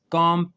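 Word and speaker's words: comb: कॉम, popular word है ये, कंगी।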